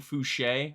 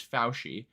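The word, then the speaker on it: Fousheé: Apparently that's how it's pronounced. I was saying Fouché or Fouchi the entire time, but apparently it's Fauci.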